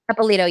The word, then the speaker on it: Eppolito: I'm not sure how to pronounce her last name. is it Eppolito? Eppolito, yep. Out of Las Vegas, Eppolito Yep.